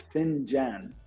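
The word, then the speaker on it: فنجان: In Arabic proper, it's finjan. So F-I-N-J-A-N in English, if you want to spell it. But here, the dialect for the United Arab Emirates, finyal is what we call it.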